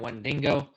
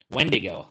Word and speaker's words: wendigo: beat Whalen Womack's Washington wendingo wendigo that's what it is it's a Cryptid uh I always pronounce it wendingo but uh I think